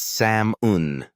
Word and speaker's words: salmon: Some English words are tricky because they look one way but sound completely different, like salmon. We don't say the L. It's Sam unman.